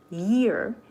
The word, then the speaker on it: year: But Y has very strong vibration, so we pronounce year. You need a lot of vibration in your tongue, right?